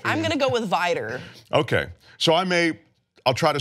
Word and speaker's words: Vidor: I have heard it pronounced by people from the South as Vidor.